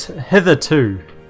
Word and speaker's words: hitherto: on this chat yeah it's heathered hitherto like hither then two on the end as how you pronounce that word uh elena i wonder